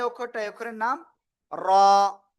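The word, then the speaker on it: راء: আবারও লিখি, এই যে অক্ষরটা, এই অক্ষরের নাম র। র, র, জিহ্বার আগার পিঠ তার বরাবর উপরে তালুর সাথে লাগিয়ে এক আলিফটা নিয়ে উচ্চারণ করতে হবে।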